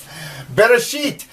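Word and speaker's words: בראשית: You can sound it out. Beit, ba, resh, r, aleph. They actually say it's a silent letter, and you don't... It sort of gives the A sound.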